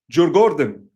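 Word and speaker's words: Djurgården: M the garden in Jen is pron is actually pronounced Gordon. J Gordon.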